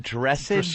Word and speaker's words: dressage: Equestrian dressage? Dressage, actually. Dressage? Yes. I pronounced that right.